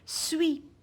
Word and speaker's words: suis: Suis, comme le verbe être, je suis, je ne prononce pas la lettre S.